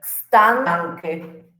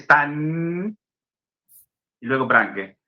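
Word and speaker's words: stan Branke: Nunca un croata va a decir Stan y luego Branque. Va a saltearse esa N. Va a dejar la lengua ahí en reposo.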